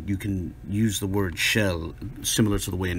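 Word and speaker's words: של: He probably didn't know it was there, but my point is that this construction, shel, or as he pronounces it, shal, where it stands alone by itself, doesn't exist in biblical Hebrew.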